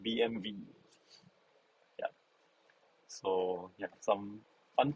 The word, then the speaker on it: BMW: if we are talk if you talk to german it's actually called bmv yeah so yeah some